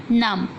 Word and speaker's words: numb: Numb. Here B silent letter.